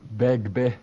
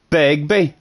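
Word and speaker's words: Begbie: Have I been pronouncing Beggy wrong? Begby. Begby. Oh, there's another B. Begby.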